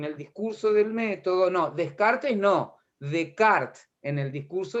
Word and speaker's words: Descartes: Renato es René Descartes. Se escribe Descartes, pero se dice Descartes.